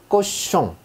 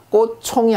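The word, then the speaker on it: cochon: 자, 요 녀석의 발음은 그냥 쉬입니다. 쉬. 우리가 보기에는 치처럼 보이죠. 치. 하지만 프랑스어에서는 쉬 발음입니다. 그래서 자, 꽃숑이라고 하는데 돼지란 뜻이죠. 꽃숑. 자, 꽃총이 아니죠. 꽃숑입니다.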